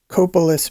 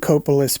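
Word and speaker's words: Copalis: grey's harbor county primarily in the area of coppolis beach several of the men on his cutting crews lived in and around coppola's beach i hope i'm pronouncing that right guys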